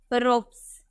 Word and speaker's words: ropes: नजर आ रहा है, तो इसका उच्चारण सौ में करेंगे, हम बोलेंगे रोप्स।